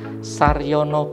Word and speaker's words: Sarjono: Nah, kursus seni lukis ini kepada pelukis senior yang bernama Saryono BN. Saryono BN, ejaannya Sarjono, JO, ya, orang lama itu.